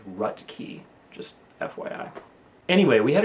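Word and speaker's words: Roethke: poet Theodore Rhett key his last name is spelled in a way that looks like Ruth key but the pronunciation is rut key just FYI anyway we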